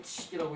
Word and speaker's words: 則: 세상이 끝나는 거 말세로부터 이제 그 이르는 것을 말하고 과호 즉 과호칙자 이제 요 때는 요 칙이 법칙칙이에요. 그 즉이 아니고 칙이라고 읽거든. 그 법칙에 과한 것이다.